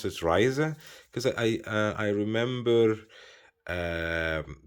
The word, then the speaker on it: RZE: for traveling here and i think they change this to rze which you can pronounce it as uh as ryzer and i like the